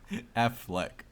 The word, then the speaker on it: Affleck: coming out you just you call him afflac every time isn't it afflac Affleck oh it is a